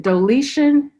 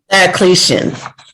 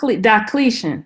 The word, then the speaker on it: Diocletian: about um the roman emperor and i may pronounce this right wrong everybody help me out is it deletion diocletian diocletian i knew i was going to mess it